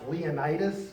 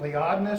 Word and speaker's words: Leonidas: the next week about whether it's pronounced Leonidas or Lee oddness I go with Lee oddness because how do we